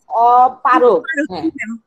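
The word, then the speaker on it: অপারগ: এবং কোনো পরাগ শিশু বা অপরাগ শিশু থাকে তাহলে অপরাগ শিশুরা পরাগ শিশুকে ফলো, অপারক উচ্চারণটা হবে অপারক, শিক্ষার্থীরা পারক শিশু শিক্ষার্থীদেরকে সাহায্য নিতে পারে।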